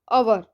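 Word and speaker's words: hour: word दिया हुआ है एच ओ यू आर अवर यानि कि घंटा एक घंटा यहां पर जो है वह साइलेंट यहां पर हमारा प्रशिक्षण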